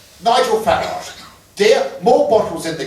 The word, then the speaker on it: Farage: Nigel Farage. Dear, more bottles in the garage. Really don't want to disparage, but you should pronounce it Farage.